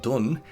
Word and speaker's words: Dohn: pewter in French but in Irish this spelling pronounced it done is the name of